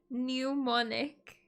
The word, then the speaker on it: mnemonic: fine everybody roasts me mnemonic does that word not have a p on the beginning a silent p now am i just